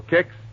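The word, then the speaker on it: Kix: All right, ask your grosser for kicks tomorrow morning. That's spelled K I X.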